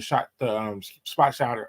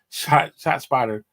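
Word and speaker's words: ShotSpotter: Okay, the technology that they recommend was the spot shotter, or is it? I'm saying it wrong. Shot spotter.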